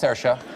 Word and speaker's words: Saoirse: That's Saoirse.